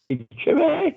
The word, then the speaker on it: Chimay: Chimay.